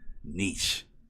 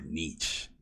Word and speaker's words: niche: well everything's and i i don't use the french pronunciation i say niche everyone gets married no no most people say niche but i'm like no i'm i'm just gonna anglicize the out of this word and say niche uh